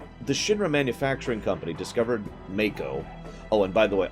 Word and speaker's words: Mako: Oh yes, by the way, just to be clear, the official pronunciation is Mako.